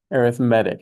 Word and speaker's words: arithmetic: Arithmetic, exactly. As opposed to, it's weird to hear that, isn't it? Arithmetic is a noun, arithmetic is it's an adjective, it's describing the sequence.